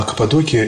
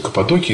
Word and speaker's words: Каппадокия: Я думал, всегда называл Каппадокия, но там все говорят Каппадокия. В Новом Завете написано Каппадокия тоже. Ударение на... По-русски, если читаешь Новый Завет, Каппадокия. Но там все употребляют в таком, с таким ударением, поэтому уж простите, не знаю наверняка, как, на чем нужно остановиться, но и такая всякая формулировка существует. Я там научился говорить Каппадокия.